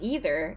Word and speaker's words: either: How are we supposed to pronounce either? Is it either or either? Either. Either. Either one is right.